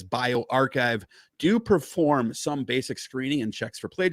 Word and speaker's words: bioRxiv: how it's pronounced uh bio rxiv which is unfortunately also not a comic book villain and is also pronounced as bio archive do perform some basic